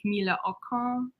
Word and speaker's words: Camilla Akrans: So technically her name is pronounced like Camilla Akrans.